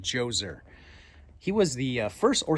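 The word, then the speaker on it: Djoser: let's talk King joser has a DJ o something like that but pronounced joser he was the first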